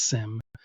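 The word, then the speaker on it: SIEM: So, you you use the phrase SIM. So, that means security information and event management, right? It's S I E M. It's pronounced SIM, like a SIM card in a phone.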